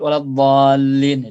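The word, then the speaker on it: وَلَا الضَّالِّينَ: Pada bacaan tasydid waladdallin itu. Dhal. Yang penting adalah mentasydidkan lam sebelum mengkasrahkannya. Waladdallin. Yang penting ada tasydidnya walaupun tidak ditekan.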